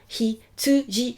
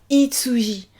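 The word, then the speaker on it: ひつじ: Hitsuji. Attention là, vous faites bien hi, vous faites pas itsuji.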